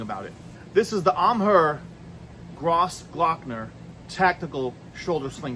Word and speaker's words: AMHEH: All right, so we have this bag from Amher. Now, it's spelled A M H Eh, but it's pronounced Amher.